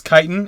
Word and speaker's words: chitin: Yeah, it's chitin, and I even put the word kite, K-I-T-E, dash I-N, so that I would know how to pronounce it.